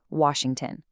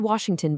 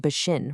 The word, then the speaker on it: Washington: collapse because the speaker lacks the lip rounding for the W, turning it into a V or B, and simultaneously degrades the sh into an S while also completely dropping the middle and final syllables. The word Washington basically ceases to exist.